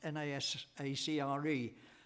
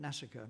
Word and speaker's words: NASACRE: Some people call it Nasacre, and other people call it something else, and I've always called it NASICA, but we're into a diverse universe, a multiple universe here, and I don't think it's going to establish any standard kind of... I think people don't like it kind of rhyming with massacre.